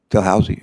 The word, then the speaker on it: Dalhousie: Ellis earned her PhD from, how do you pronounce the university in Canada you went to, Dalhousie? Dalhousie, okay, I hope I didn't butcher it too bad.